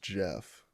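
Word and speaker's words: Geoff: I remember it's like he spells it the British way too it's funny it's like g-e-o-f-f or whatever yeah but it's pronounced Jeff oh it's pretty funny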